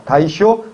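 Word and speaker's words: 大正: 그래서 일본 내에서 다이쇼 데모크라시, 대정 민주주의라고 합니다. 한자로 대정이고 다이쇼라고 읽습니다.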